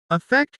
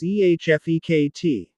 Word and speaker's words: effect: Effect is pronounced as EHFEKT. Again, stress is on the second part.